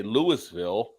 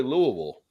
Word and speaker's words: Louisville: where Todd is at some people say Louisville when it's really Louisville so oh you did